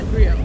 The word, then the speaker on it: griot: You're pronouncing it griot. Yeah, griot. No T on the end. It's silent.